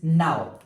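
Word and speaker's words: gnome: Number next word is नाउ।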